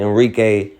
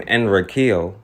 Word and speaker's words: Enrique: the Revolt of Enrique and I'm saying Enrique speaking English now they pronounce his name enriqueel but as speaking English we say Enrique now he organized his